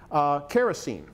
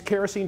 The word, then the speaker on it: kerosene: material that he named kerosene which comes from Greek Karos meaning wax and elli and Elyon meaning oil and he changed the second syllable to een so his commercial product